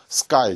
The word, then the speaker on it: sky: sky 아닙니다. sky, just one syllable이에요.